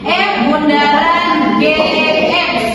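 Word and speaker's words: f∘g: Jadi kalau ada soal itu dibacanya F bundaran GX ya. Jadi bukan dibacanya FOG tapi F bundaran G ya.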